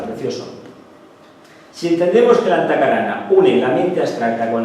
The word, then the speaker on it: Antahkarana: Bien, Antakarana, bueno, se pronuncia Antakarana, como Brahma.